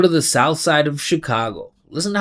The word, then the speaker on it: Chicago: Chicago sh. It's not cheat. We do a whole class on this. Not Chicago. Chicago. It's sh. So it sounds like this. Sho, right? Chicago, not Chicago.